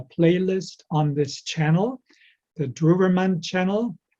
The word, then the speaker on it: Drewermann: on this channel the druverman channel dravermont channel that's how his name is pronounced in german if you subscribe to